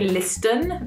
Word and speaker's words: listen: But as you can hear, there's no T sound when I say this word. Listen, listen. But in the actual word, when we spell it, there is a T after the S, but we don't pronounce it. So we don't say listen because that just doesn't sound right at all. We just say listen.